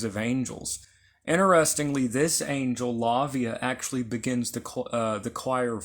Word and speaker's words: Lauviah: So there's actually different pronunciations and spellings of this particular name. Lavia is how I pronounce it.